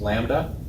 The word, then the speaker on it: lambda: We give it this symbol, lambda, that weird looking Greek L is pronounced lambda, and that stands for wavelength, the distance between two peaks.